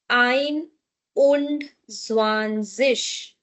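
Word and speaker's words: einundzwanzig: So, 21 would be ein und zwanzig. Ein und zwanzig. Thing to be noted is This is ein and not eins. So basically the s of one we are omitting here.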